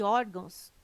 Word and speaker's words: órgãos: correto caráter intransferível e órgãos tem sua sílaba tônica na penúltima sílaba são paroxítonas observação poderia